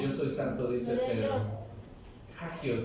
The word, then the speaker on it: hagios: Hagios, diga conmigo, hagios. Se escucha como gajos o algo así, ¿no? Hagios. Y eso es santo en griego. Hagios. A ver, digan Kadash. Kadash. Hagios.